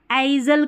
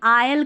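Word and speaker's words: aisle: अब इसको भी आइजल करके पढ़ दिया, नहीं आयल करके पढ़ेंगे।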